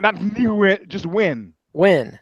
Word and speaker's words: Nguyen: It's that Vietnamese name, Nguyen. So it's pronounced Win. Nguyen. Not Nguyen, just Win. Win, not Gwen.